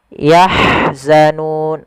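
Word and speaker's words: يَحْزَنُونَ: syafawi kemudian yang terakhir yahzanun Ha alirkan dia punya sifat rohhawa aliran nafas dan Hamas Rah maka yah yahzanun yahzanun Kemudian pada lafal Nun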